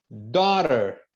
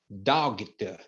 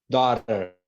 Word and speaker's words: daughter: som de nada quer ver por exemplo dter Daughter Daughter não é doget não é doget não é doger é Daughter Daughter que é filha Light Light Light que